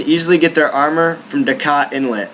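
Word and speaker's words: Dajkot Inlet: The next 5 heroes can be you can easily get their armor from Dakat Inlet. I think the J is silent, but if you need to know exactly where it's at, I'll probably be putting a picture right here.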